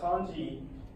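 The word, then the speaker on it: 漢: Kan is the Japanese pronunciation for Han, from the Han Dynasty.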